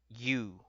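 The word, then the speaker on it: ㅠ: Number eight is very similar again. You, you. Literally like Soldier Boy, you.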